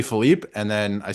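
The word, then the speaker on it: Philippe: flopping the pronunciation around so I thought it was Phillip it's it's actually Philipe and then I say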